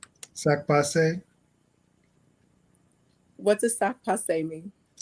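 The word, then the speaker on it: sak pase: Laroche, I'm gonna say sac passe.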